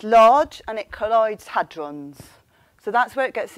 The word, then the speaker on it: hadron: And I think in America you pronounce it hadron, although you didn't. So I don't know. I say hadron.